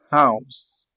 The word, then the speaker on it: house: H it en anglais comme dans le mot house. House, on prononce le H en anglais.